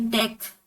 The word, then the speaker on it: deque: Nah, jadi ini diucapkan sebagai DEQ or a double-ended queue atau antrian dua ujung